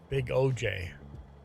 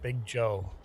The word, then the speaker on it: Big OJ: Oh, Big Oj, not Big Joe. Big OJ.